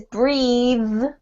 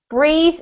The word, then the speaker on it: breathe: with this sound and this word here is breathe with this sound breathe is the verb and breath is the noun so